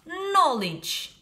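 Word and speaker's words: knowledge: был ok next слова но линч кей is not финанс буква кей не произносится но линч переводится знания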